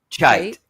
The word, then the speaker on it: Cheit: Cheit. Yeah, Cheit. Yeah. Well, once you do pronounce something wrong, you're really, or at least I am doomed.